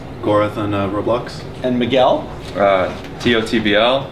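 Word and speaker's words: TOTBL: T-O-T-B-L, pronounced tot, the B and the L are silent.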